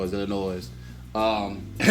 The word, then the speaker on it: Illinois: the weekend before that that the s is silent it uh for the state of illinois but uh it just